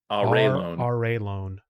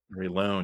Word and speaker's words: Arelon: to Arelon, and actually I think Arelon is pronounced differently. Let me just see right here. It's Raylone. Arelon. Raylone, yeah. Yeah, see that I would have never got the loan part. I would always say lawn.